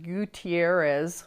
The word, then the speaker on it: Gutierrez: This victim witness fund, like I said, is a problem because there is a Mr. Gutierrez, which is the correct pronunciation of the name, who is also the person who administers the Victim Witness Fund under the Idaho Industrial Commission.